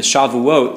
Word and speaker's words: Shavuot: I was explaining you the Shavuot was what they're celebrating that's how you say it in Hebrew basically it's s weeks